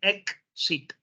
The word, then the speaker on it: exit: Now, if the X comes between 2 different vowels, you don't pronounce it cuz. You don't say exit. It's not exit. A lot of English as a second language speakers will say exit. It's not exit. It is exit.